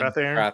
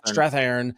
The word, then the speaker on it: Strathairn: It has Walton Goggins playing Peter Tomarken, the the game show host, um, and David Strathairn I can never pronounce his name. Strathairn. Strathairn, uh, as the executive producer of the game